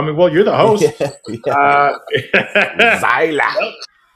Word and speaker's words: Seiler: Seiler. Always in a German or Austrian accent. Well, all my life when I was a kid, like everyone said it wrong. They called me Seiler, Silo, Sailor.